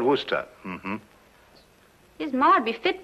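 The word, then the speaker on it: Worcester: something else too dark but it's spelled wo AI SI es ter we're sister oh yes I see yes Lord Wooster mm-hmm his mard be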